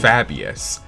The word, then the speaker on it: Fabius: Then there's Fabius. Fab, being the first syllable in his name, makes his name sound a little zesty in my humble opinion.